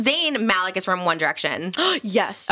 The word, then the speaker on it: Malec: your last name is how do you say Malik Malik yeah like Ramy Malik like Z Malik I